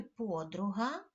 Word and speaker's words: подруга: зверніть увагу і запам'ятайте в слові подруга наголос стає на звук о на перший склад це правильно вимовляється так слово подруга Ну а Сьогодні ми